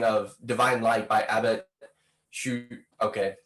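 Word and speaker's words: Suger: we started recording, of Divine Light by Abbott Shoot. Okay. Sujet. It's French. I took Spanish in high school, so French pronunciations are not my thing.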